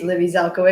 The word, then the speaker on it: Libby Zelikowitz: great job of introducing me my name is libby zelko it's perfectly pronounced i am 26 years old i live